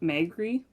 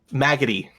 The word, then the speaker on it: Maggoty: You said her name was Auntie Magri? Maggoty. Maggoty. Okay.